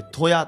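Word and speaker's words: 都屋: 旅行え都子そして屋根の矢と書いてトヤと読みます皆さんトヤ漁港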